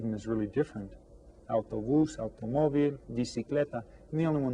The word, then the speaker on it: automóvil: And again, we stress the accented syllable, automóvil.